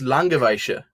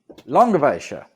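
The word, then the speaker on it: Langewiesche: 70 degrees i'm sorry i do know how to pronounce it it's langoveisha long of asia okay i'm still gonna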